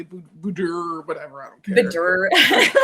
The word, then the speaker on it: boudoir: It's a French word, and it is boudoir, but people say boudoir, whatever.